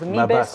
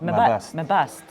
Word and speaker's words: Mebest: But I didn't really understand if it was me best or my best. My best. My best. My best. Yeah. My best.